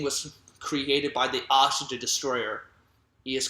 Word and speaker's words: Destoroyah: good guy but it's destroyer not just the raja and not destroyer destroyer I know it's spelled destoroyah but it's pronounced destroyer okay just to let